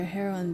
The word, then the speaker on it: heroine: It does sound like a drug, but it's how it's pronounced.